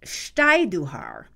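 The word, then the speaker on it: Stajduhar: foreign language names period the original pronunciation is steiduhar and steiduhar families are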